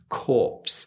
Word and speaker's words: corpse: We actually have to say the P here, corpse.